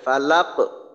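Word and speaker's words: فلق: থেকে সুন্দর হবে হ্যাঁ লাম জবর লামের জবরের উচ্চারণটা যেন একেবারে লা এমন হয় যেন ল ধরনের না হয় ফালাক লাম কফ জবর লাক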